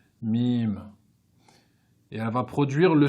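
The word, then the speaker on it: ميم: mime s'écrit comme cela on va l'écrire en phonétique comme ceci m im mime et elle va produire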